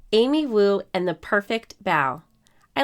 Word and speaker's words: bao: little clues right here the kitty says it's bow like bow not like bo sometimes people might have